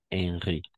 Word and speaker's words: Henri: Henri. Si H muet, Henri quatrième.